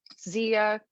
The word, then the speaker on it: Zia: So Zia rhymes with Mia, MIA.